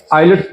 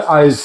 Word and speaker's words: IELTS: ये नहीं पता कि जो आइलेट्स जिसको कहते हैं उसकी सही प्रोनाउंसिएशन जो है आइल्स है।